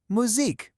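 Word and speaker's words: musique: We start with that tricky ooh sound we practiced at the very beginning. Moo. Then we have seek. And what was our rule for that final e with no accent? It's silent. So the whole word is simply muzzik.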